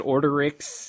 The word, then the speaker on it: Orderix: Is it Orderix? Is that the correct pronunciation? Yes. Okay. It's not Orderix or well, no, because chaotix comes from chaos, so Orderix comes from order.